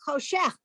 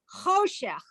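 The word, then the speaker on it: חושך: By default, Hebrew accents the last syllable. So in this word Oh, has two sure. syllables, cho and shech. Those are the two syllables. And so you would think it's choshech, but it isn't. It's choshech.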